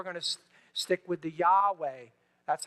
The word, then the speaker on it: Yahweh: to stick with the Yahweh that's how they see it in fact most scholars say that is the best way to pronounce these four consonants Yahweh so for our purposes